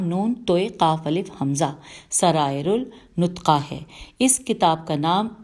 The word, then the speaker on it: سرائر النطقہ: شخصیت تھے۔ ان کی سب سے مشہور کتاب سرائر النطقہ، سین رے الف حمزہ رے الف لام نون توئے قاف الف حمزہ، سرائر النطقہ ہے۔ اس کتاب کا نام اسرار النطقہ بھی